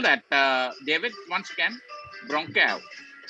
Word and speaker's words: Ronqueo: How do you spell that, David, once again? Ronqueo. R-O-N-Q-U-E-O.